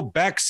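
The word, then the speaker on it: Békés: It's pronounced Bekes, but Bekes or Bekes. It's fine with me. Yes. Okay. Bekes. No, I love to pronounce everything. Bekes, yeah, Bekes. Yes. Bekes. It's a Hungarian surname.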